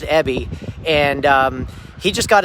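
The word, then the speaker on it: Abey: an agent uh his his name is spelled a b e y but it's pronounced ebby and um he just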